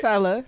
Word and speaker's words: Tella: But I'm sitting here with Tella, man. Did I say it right? Yes, it right? Tella, yep.